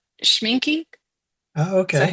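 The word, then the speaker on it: Schmincke: Oh, it's Schminky. Oh, Is that okay. how you pronounce that?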